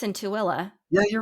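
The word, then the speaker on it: Tooele: desire Peak Temple where I think it's in tuilla yeah you're right okay yeah why don't they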